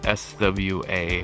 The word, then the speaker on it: Swa: Definitely gonna have to go with SWA just because people have a better time pronouncing it Swa. It's actually a play off of my real name.